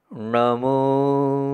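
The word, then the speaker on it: णमो: जाता है पीछे मतलब जीभ को पीछे ले जाना और आपको एक बात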